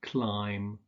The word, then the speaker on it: climb: The first is that you don't pronounce the B in words like bomb, bomber, climb, and thumb.